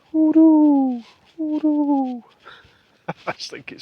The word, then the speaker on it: hoodoo: Um, I like to say it like an owl, like hoodoo.